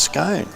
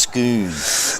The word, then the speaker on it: Scone: He said, "It's Scoo. like double O. It's should be pronounced Skoon.